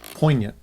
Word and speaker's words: poignant: And it was a very, very moving, Poignant. poignant. What a great word. Poignant. The G is silent.